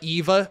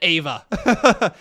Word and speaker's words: Ava: The Eva will do well. Or the the Ava. Sorry, I said the Eva. The Ava. The Ava will do well. I totally mispronounced it. The Ava.